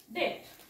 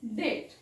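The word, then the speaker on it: debt: पण बघा कसा वाचायचा मग डेट डेप्ट डेट डेप्ट असा वाचायचा नाही डेट कळालं नेक्स्ट पहा सी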